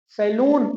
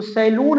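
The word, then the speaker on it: salon: का ठेका beer bar सैलून America में ना बियर बार बोला जाता है तो अब अगर आपको बाल कटवाने जाना हो तो सैलून नहीं बल्कि सैलून बो सलोन स्पेलिंग प ध्यान दीजिए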